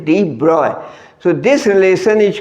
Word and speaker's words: de Broglie: de Broglie spelling याद रखने के लिए ब्रॉगली बोल सकते हो, कुछ लोग प्रोनाउंसिएशन ऐसा भी करते हैं ब्रॉगली, बट जो एग्जैक्ट प्रोनाउंसिएशन है दैट इज de Broglie.